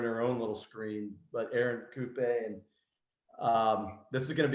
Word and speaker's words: Erin Coupe: and there in her own little screen, but Erin Coupe, and this is going to be an awesome conversation. Hey, Erin, I got the pronunciation right. It's Erin Coupe.